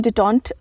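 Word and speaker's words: détente: next word है डिटन डिटन इसको हम डिटन प्रोनाउंस करते हैं डी ई टी ई एंड टीई मतलब होता है इसका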